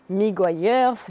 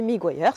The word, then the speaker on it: Meguiar's: n'est autre que mers alors plusieurs prononciations possibles miguers miguers c'est moi tu m'entendras le prononcer miguers donc c'est pas la